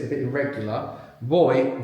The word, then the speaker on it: voy: Voy. V O Y. The V can be pronounced like a V or a V in Spanish.